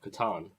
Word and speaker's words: Katon: I believe you're Katon. Yeah, Katon. But I'm Fitz. Katon! That French name. Yeah, that's how they pronounce it where I'm really from.